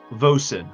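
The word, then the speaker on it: Vosyn: You could put a you could put a little dash to help you pronounce her name of VO and then sin. and phonetically spell it or whatever I need to.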